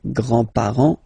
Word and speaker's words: grand: with the the grandparents Grand remember you don't pronounce this final s here Grand okay so grand grandfather